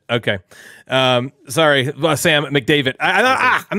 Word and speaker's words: McDavitt: it by the way is it mcdavit nope Nick David think of David yeah it's just McDavid okay um sorry Sam McDavid I thought ah I'm